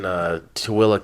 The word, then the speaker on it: Tooele: Keep But anyways, this is located in Tooele County. Another weird word, Tooele. That is true. Because tell people how to spell it. Tooele. What's the most common thing you hear when people... Thule.